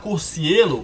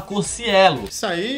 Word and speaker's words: Cocielo: Primeira parte é que o pessoal pronuncia errado. Ao invés de falar Cocielo, o povo fala Cocielo.